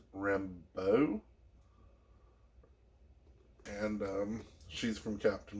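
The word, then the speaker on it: Rambeau: we got maria and i believe her last name is pronounced rambo and um she's from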